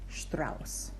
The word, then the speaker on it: Strauss: word so for instance our beloved composer Strauss this is a sh t AR au s you see the SS that one's pronounced as a regular s Strauss there is a little